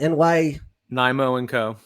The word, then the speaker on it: NYMO & Co: CEO, owner, founder of how do you pronounce it? NYMO&Co. NYMO&Co.